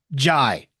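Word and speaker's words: Njie: I learned this recently ji the N is silent Adam ji uh thoughts on I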